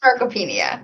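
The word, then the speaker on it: sarcopenia: And then the um excuse my pronunciation the scars scars scar scarcopinia. Is that how you say it? Scaropenia.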